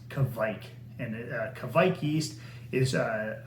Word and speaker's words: Kveik: do you pronounce it some people look at this and i've heard several different versions but the the best and most appropriate one that i found is kavik and kavik yeast is